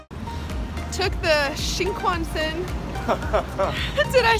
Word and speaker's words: Shinkansen: took the Shinkansen. Did I say that right? No. What is it? How do you say it? Shinkansen. Shinkansen.